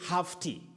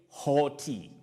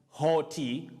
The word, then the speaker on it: haughty: say how tea and you don't say half tea you say hoti hoti with the long sound or that is the long low back sound or hoti a hottie